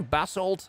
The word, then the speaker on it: basalt: for pronunciation so you can actually upload uh pronunciations for words and let's see okay and uh english and let's see okay basalt it is um so we need basalt to